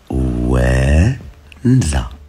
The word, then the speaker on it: Ouenza: ومع صاحبنا عنده مشكيف اي كي اي تاعو، وقال البيبليك ينطق خطا خليه هو يقولها. او او ماشي اي او او او او ان زد ا وانزا.